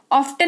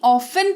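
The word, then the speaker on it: often: इसको लॉजिक वही है टी के पहले एफ लगा हुआ है तो टी का उच्चारण नहीं किया जाएगा बढ़ते हैं आगे डब्लू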